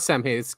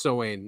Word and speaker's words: Samhain: It's not Samhain. It's pronounced Samhain, right?